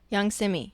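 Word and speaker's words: Yung Simmie: Young Simi. Young Simi. Woo! Let me spell it out for you guys because it's not Typical.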